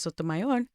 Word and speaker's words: Sotomayor: I was actually interviewing Justice Sotomayor, and that's how you pronounce it. That's how you say it.